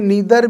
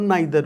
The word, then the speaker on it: neither: ये नीदर भी है और नाइदर भी है। तो मैं इसको कैसे भी प्रोनाउंस कर सकता हूँ, सही है।